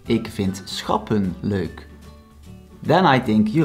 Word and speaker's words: schappen: Then schappen consists out of two syllables, schap, pun. Here the syllable does end with a consonant and not a vowel, so it's pronounced short.